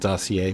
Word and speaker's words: dossier: I realize that that's pronounced dossier, but Sasquatch.